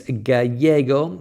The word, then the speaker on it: gallego: Gus saying that in Argentinian Spanish it's gallego. Yes, thanks for that, because the Argentines pronounce the double L a little bit differently than people in Spain.